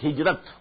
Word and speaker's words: Hijrah: I said at some time in my discussion that I'll explain the word hijrah also. Hijrah, which we in Urdu pronounce hijrat.